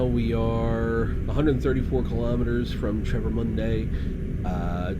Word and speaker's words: Travemünde: So we are moving back north again towards Travemünde. Did I get that pronunciation correct, Miles? You're definitely getting closer. It's more like Travemünde, and you've got the right idea with the pronunciation.